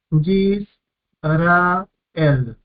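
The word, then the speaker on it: ישראל: de una vocal corta no es pronunciado por lo tanto no se cuenta para una sílaba es silencioso yis ra el tres sílabas yis ra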